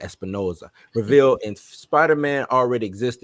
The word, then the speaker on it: Espinosa: The director, let me see, in an interview with Cinema Blend, Morbius director Danielle Espinosa, gotta say it like that, Espinosa, revealed in Spider-Man already exists in New York City that Jared Leto's Michael Morbius calls home.